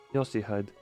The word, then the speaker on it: Yoshihide: 요시대라고 읽는 거다. Yoshihide.